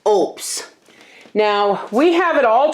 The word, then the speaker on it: OUPES: lights on it tomorrow I've been pronouncing it wrong this is an oops it's pronounced oops now we have it